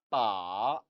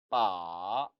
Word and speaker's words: 把: 빠, 빠. 이 빠라는 단어는 삼성으로 발음하지요.